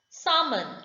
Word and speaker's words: salmon: the dead rests tom salmon l is silent the last word t